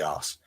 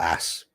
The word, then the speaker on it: arse: as soon as I start talking, because that's pain in the arse. Arse, not ass. Arse. It's a better word, pronounced that way.